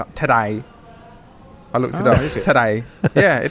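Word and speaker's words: Tadej: his first name it's like the word today in cockney today I look today yeah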